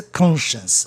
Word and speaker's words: conscience: E consciência, conscience. Lembrando que ciência, todinho, é uma sílaba só, conscience. Essa palavra consciência em inglês só tem duas sílabas. Conscience, conscience. E aí a sílaba tônica fica no O, né?